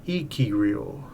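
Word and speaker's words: ikiryō: describe the living ghost of Icarus pronounced ikirio okay this is fascinating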